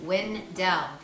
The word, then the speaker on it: Wendell: Now, fun fact, the stress of pronunciation was on the poet's first syllable, Wendell. However, the residents of the town were stressing both syllables, Wendell.